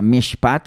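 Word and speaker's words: משפט: de una palabra hebrea que es mishpap, así se pronuncia, mishpat, que significa decisión o sentencia.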